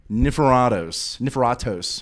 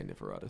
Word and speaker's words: Niforatos: This is Niforatos. How would you pronounce it specifically? You just say Niforatos.